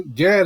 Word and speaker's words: Gad: Gad is just how it is.